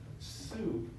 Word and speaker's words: sup: know so so so s is equal to soup and this is how we literally say it